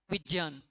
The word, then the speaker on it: विज्ञान: तो यह विज्ञान है और यह विज्ञान तो यह जो ज्ञ से बना है ज और से आप इसका उच्चारण करोगे विज्ञान इसका जो शुद्ध उच्चारण है वो होगा विज्ञान देखो आगे और शायद आज का हमारा अंतिम क्वेश्चन है।